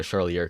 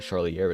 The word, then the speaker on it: Charlier: That's spelled a Charlie with an R at the end. Charlier, it's French or something like that.